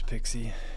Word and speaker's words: PKCE: Wait, you mean Pixie? Yeah, PKCE proof key code exchange, something like that. That's how it's actually that's how it's described as um in the spec.